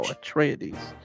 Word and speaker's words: Atreides: Oh, Atreides.